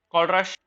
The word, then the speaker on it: Kohlrausch: चलेंगे कॉलरश भाई के पास कि भाई हमें कोई समाधान दो।